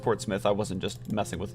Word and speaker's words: Portsmouth: parents at me okay um also it is pronounced Portsmouth I wasn't just messing with myself in my